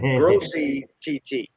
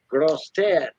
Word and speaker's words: Grosse Tête: or they say grossy TT. And I had a business there. I had a radio shop at Tiger Truck Stop. But grosse tête is how it's pronounced in French, and it means big head.